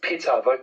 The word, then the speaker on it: Ptah: If you look at Ptah, they say it's pronounced Pitta, probably vocalized as Pitta.